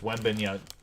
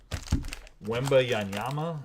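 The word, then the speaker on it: Wembanyama: I think it's Wembenyama. Wemba Yanyama, I think that's how you say his name.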